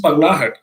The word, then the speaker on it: Pagglait: And I was trying to pronounce Pagglait. I wasn't really sure if I was pronouncing it well, but the other day I was at my in-laws' house and they helped me say this is Pagglait.